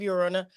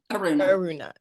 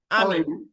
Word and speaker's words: Eruna: you have when of Ura I always pronounce that wrong is Aruna ARA Aruna okay so you got book